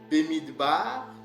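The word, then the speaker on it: במדבר: du grec, de la Septante, arithmoi, en hébreu, Bemidbar. Ok, ça c'est la prononciation qu'Edom m'a donnée, d'accord. Et on dit qu'en hébreu, ce mot, nombre en hébreu, Bemidbar, signifie dans le désert.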